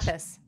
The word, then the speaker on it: Stathas: heard someone say luke stathas do you know pronounce what's that status okay that was right okay anyway um when